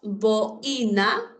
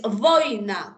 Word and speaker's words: boina: Ojo, si tú pronuncias boina, es incorrecto. Es boina, como vaina. Acuérdate de vaina.